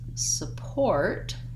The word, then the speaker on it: support: it, I stop it, versus support has two syllables with the stress on the second syllable, port. And so it sounds like sa, has a vowel schwa, and then just my word port, support.